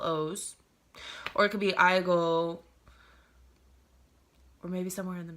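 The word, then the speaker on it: 아이고: or something like that, you could be like Aigo. And if I were to spell it, it'd be A-I-G-O-O.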